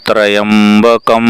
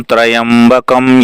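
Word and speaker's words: त्र्यम्बकम्: इस प्रकार है ओम त्र्यंबकम यजामहे सुगंधिम पुष्टिवर्धनम उर्वारुकमिव बंधनान् मृत्योर्मुक्षीय माम्रतात् यह फिर से इसको श्रवण करेंगे ओम त्र्यंबकम यजामहे सुगंधिम पुष्टिवर्धनम उर्वारुकमिव बंधनान् मृत्योर्मुक्षीयमामृतात इजी इस तरह का इसका उच्चारण इसे जुए ऋषि वशिष्ठ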